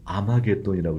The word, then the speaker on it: 아마겟돈: 그와 마찬가지로 하르메기도를 히브리어를 헬라어로 바꾸면 뭐라고 읽으냐면 아마겟돈이라고 읽는 거예요.